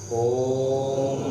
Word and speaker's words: ओम: गहरी लंबी सांस भरें और ओ से शुरू करके माँ पे साइलेंट होते हुए ओम का उच्चारण करें।